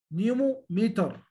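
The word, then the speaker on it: pneumometer: البي ما هو شو اللي مش اللي بو سو راس لا اقول بتروجويد لا نيمو ميتر انا ما نطقتش البي اصبح البي هنا ساوند ما فيش بي خالص بتنطق ان.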